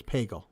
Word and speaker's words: Pagel: It's pronounced bagel, but with a P. Okay, so it's Pagel.